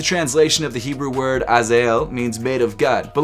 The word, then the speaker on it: Azael: The name of this shoe is pronounced Azael.